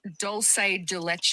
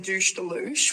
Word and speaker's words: dulce de leche: It's doulce de leche. I just made my very own douche douche which I up.